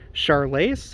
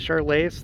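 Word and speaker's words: Charolais: herford um simmental uh charles i think that's how you pronounce it charlay's they're like the white cows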